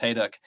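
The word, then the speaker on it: Hejduk: the uh John Hau by the way it's pronounced hayu uh precedent would would choose the diagonal just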